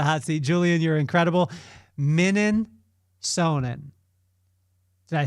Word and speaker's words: Mininsohn: Mininsohn. Did I say it right? Mininsohn.